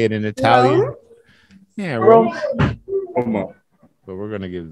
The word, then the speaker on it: Roma: How do you go about pronouncing it with a typical Italian pronunciation? Roma. Roma.